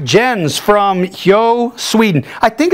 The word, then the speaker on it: Hjo: All right, Jens from Hjo, Sweden. I think it's pronounced Hjo.